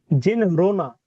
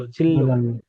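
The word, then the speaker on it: 진로: সংযুক্ত, জিল্লু। আমি বারবার করে তোমাদের বলি, বাচিম যদি ভালো করে না পড়ো তাহলে কিন্তু উচ্চারণ ঠিক হবে না।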